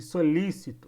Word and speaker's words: solícito: eu solicito solicito e solícito a polícia e polícia percebe que o acento ele muda o modo de falar palavra eu preciso saber qual